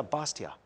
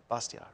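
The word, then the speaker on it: Bastiat: spelled so you know b-a-s-t-i-a-t and the t the final t is kind of soft kind of bastia yeah i go back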